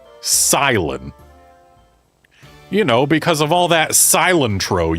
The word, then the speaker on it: Cilan: How is this character's name officially pronounced? Silent.